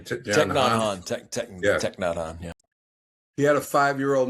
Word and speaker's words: Thich Nhat Hanh: I don't know how to pronounce his name. Thich Nhat Hanh, yeah.